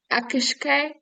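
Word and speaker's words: each-uisge: Akishke? Akishke. Yeah, it's spelled like each wheeze G.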